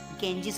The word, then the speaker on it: Ganges: बेटे इसकी pronunciation है ना, Ganges होती है. Okay, गंगा से बना है, Ganges.